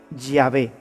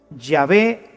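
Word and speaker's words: Yahweh: soy el que soy se pronunciaría o se diría ya ve ya ve te envía así es como habría sonado en hebreo antiguo lo que dios le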